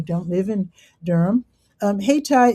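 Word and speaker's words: Hayti: live in Durham, um, Hatai is the name of an historic African-American neighborhood. And it's called Hatai. It's named after Haiti. And it's spelled different. See, it's spelled with the Y.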